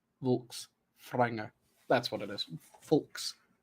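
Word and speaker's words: Fólkvangr: there's technically a so I looked this up to make sure I was saying it right it is vul franger is the field in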